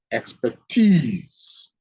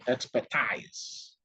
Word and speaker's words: expertise: Colleges and universities offer structured curricula that equip students with expertise in their chosen field. Never pronounce this word expertise. It's expertise.